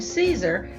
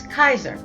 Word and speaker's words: Caesar: So why then is the name Caesar pronounced with an S sound? Well, in Latin it's not. It's Kaiser, with a K sound, the same as the